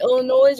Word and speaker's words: Illinois: okay so is it Illinois or Illinois Illinois okay the S is silent I I I say